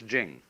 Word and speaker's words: Jing: pronounced Ching, but it's Jing, like a J.